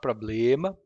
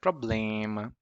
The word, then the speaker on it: problema: consonant, M or N, it contaminates that syllable. For example, problema. It's not problema, but problema.